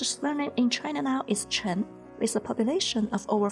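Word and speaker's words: 陈: And the character Chen follows the second tone, so it is pronounced as Chi, N, Chen.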